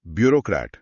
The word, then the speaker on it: bureaucrat: ब्यूरोक्रेट, नौकरशाह। ब्यूरोक्रेट, BUREAUCRAT, ये French से आया है, इसमें ओ का कॉम्बिनेशन है जो ओ जैसा साउंड करता है।